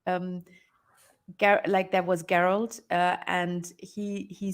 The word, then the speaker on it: Geralt: I think I read a meme somewhere like there was Geralt, and he said, like, the meme said, "Oh, shit! Now, all the kids, boomer kids, will be named Yennefer and Geralt and whatnot."